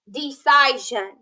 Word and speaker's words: decision: thumbs up all right this word has three syllables in it doesn't it d decision we need to shorten that vowel right decision decision i